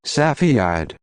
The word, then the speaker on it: Cepheid: Cepheid is actually pronounced like Cepheid.